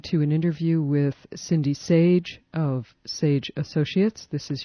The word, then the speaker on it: Sage: You're listening to an interview with Cindy Sage. Her name is spelled S-A-G-E, just like it sounds, of Sage Associates.